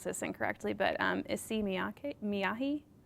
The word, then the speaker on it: Issey Miyake: Issey, I may pronounce this incorrectly, but Issey Miyake? Issey Miyake.